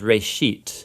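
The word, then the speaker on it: בראשית: of it's called Genesis Genesis comes from a Hebrew word it's pronounced rate sheet and it just means beginning now there's a lot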